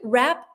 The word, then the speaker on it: wrap: Um, in this case, njude rap sounds the same like rap like like a rapper, but in this case rap is spelled with a w r a p.